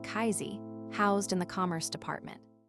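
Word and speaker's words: CAISI: The bill formally creates the Center for AI Standards and Innovation, or Casey, pronounced like Kaizi, housed in the Commerce Department.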